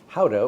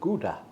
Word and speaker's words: Gouda: Gouda, which a lot of people pronounce as Gouda.